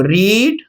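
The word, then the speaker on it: read: फिर ये जो वर्ब है ना इसका थर्ड फॉर्म लिखेंगे, तो देखो रीड, रेड, रीड। इसका प्रोनाउंसिएशन कैसे होता है, रीड, रेड, रीड।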